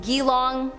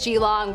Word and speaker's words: Geelong: the old Geelong jail it could be pronounced gilong I don't know I tried looking it up I think it's g-long we're going with it another Australian prison that